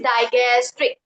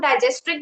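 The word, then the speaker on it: digastric: That is डाइगस्ट्रिक means हम spelling बताती हूं। डी आई जी एस टी आर आई सी डायगस्ट्रिक। इसको हम डाइजेस्ट्रिक भी बोलते हैं, डाइजेस्ट्रिक भी बोलते हैं।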